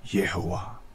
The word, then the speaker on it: Yehovah: Binibigkas ito sa Biblia ng Yahweh. Pero hindi ganito ang totoong bigkas nito, kundi Yehovah.